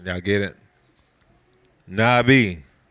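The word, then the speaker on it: נביא: ones at least is Nabi that's noon bet yod ala if y'all know the olive is silent now get it Nabi so the alif a lot of times will be silent since at the end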